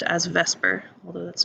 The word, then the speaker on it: VSEPR: So this idea of the electron domains repelling one another is known as Vsepr Theory, commonly pronounced as Vsepr, although that's not really how it's spelled. Vsepr Theory is what everybody calls this, which stands for valence shell electron pair repulsion.